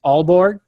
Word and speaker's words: Aalborg: these cities right but but Pia is this pronounced Aalborg yeah yeah okay and ah whose Oh see